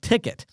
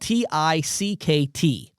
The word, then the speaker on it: Tickt: But what Retail Cloud has come out with now is this thing called Tickt. It's spelled T-I-C-K-T. So it's a shortened version. It's called Tickt.